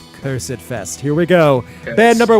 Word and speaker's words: Cursedfest: Going to say it like the British. Cursed. Cursed. Cursidfest.